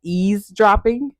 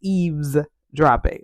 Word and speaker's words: eavesdropping: teacher moment now so this is one of these words where you think it's EAS dropping but it's EES dropping which makes it a little bit harder to pronounce but anyway this technique